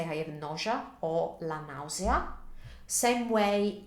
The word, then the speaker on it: nausea: to pronounce them, because in Italian we pronounce each vowel individually instead of blending them together.